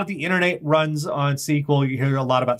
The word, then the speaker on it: SQL: lot of the internet runs on uh it's pronounced SQL even though it's not spelled that way um a lot of the internet runs on SQL you hear a lot about SQL databases and